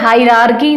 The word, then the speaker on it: hierarchy: high को हम लोग डिनोट करेंगे HIE से, और राकी आर आपका साइलेंट होते हैं, हायरार्की से ऐसे आप ट्रिक से याद कर सकते